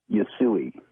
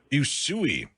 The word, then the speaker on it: Usui: Usui. Usui.